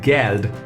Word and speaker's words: Geld: And the pronunciation in a word itself is G, so it's called Geld here. Geld means money. Again, G is pronounced as G and the pronunciation is Geld.